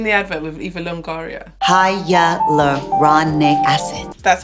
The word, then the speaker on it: hyaluronic acid: every guys in the advil of eva longoria hiya love Ron neck acid that's how you pronounce it guys this is a 2% acid